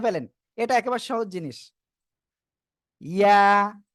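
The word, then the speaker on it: ي: ইয়া, কি অক্ষর? ইয়া, ইয়া, ঠিক আছে। ওকে, আমার মনে হয় আপনারা বুঝতে পেরেছেন। ইয়া, জিহ্বার মাঝখান উপরে তালুর সাথে লাগিয়েই এরকম লাগানো অবস্থায় ছেড়ে দিতে হবে, উচ্চারণ যা হয় হোক।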